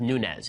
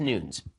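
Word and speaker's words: Nunes: up last night Devin Nunez his name is pronounced Nunez it's not pronounced Nunez it's not pronounced Newton's ok so just so that we're clear Devin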